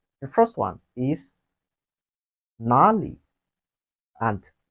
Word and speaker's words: 哪里: Where in Chinese, we say it has two pronunciations. The first one is nåli and nar.